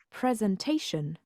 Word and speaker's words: presentation: on the second syllable the noun presentation has four syllables but the stress is not on ENT but on the syllable before the final Shin sound present and presentation in